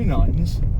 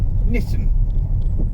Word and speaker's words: Knighton: a crazy way because there's actually a Knighton with no K and no GHT on the south of the island. So there are 2 Knightons on the Isle of Wight, and we're at Knighton, which is pronounced thusly, so that people know you're talking about Knighton, not Knitton, as those who might want to differentiate even more might describe it.